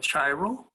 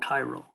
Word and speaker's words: chiral: chiral so and that's not it looks like chiral that's called chiral okay that we pronounce this this word is is chiral okay